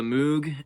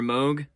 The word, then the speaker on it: Moog: further use of the Moog and the synths on here, or Moog. I think Moog is how you pronounce it.